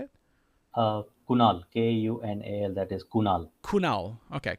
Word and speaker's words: Kunal: how how do I say it uh Kunal k u n a l that is Kunal Kunal okay Kunal apologies if I'm mispronouncing it Kunal so that's that's all right